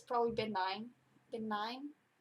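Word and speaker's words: Ben Nye: it's probably been nine been nine b-e-n-n-y-e i think it's pronounced been nine but i'm not sure maybe i'm saying that wrong all right well this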